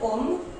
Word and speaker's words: homme: So the first one is, in French the letter H is mostly silent.